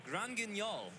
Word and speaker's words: Grand Guignol: It is Grand Guignol. That was top-notch pronunciation. I mean, he's playing it just because he's French, I'm assuming, because that name really does sound French to me.